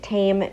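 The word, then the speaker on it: taim: simple meal of sandwiches interesting tidbit the word tame means tasty in Hebrew and that's and it's spelled ta a IIM um this location in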